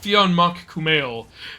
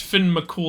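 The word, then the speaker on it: Fionn mac Cumhaill: I thought it was like oh it's like fionma Kumail but then I found out later it's pronounced Finn McCool and I was like that sounds that sounds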